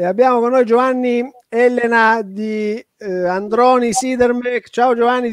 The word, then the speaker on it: Ellena: Elena.